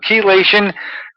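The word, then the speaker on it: chelation: about K KY which I didn't learn to pronounce as its proper term kation and uh it was written by doctors and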